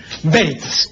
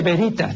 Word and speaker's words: veritas: bé chica no pronuncia como si existiera ahí una u como la u de hueso de modo que la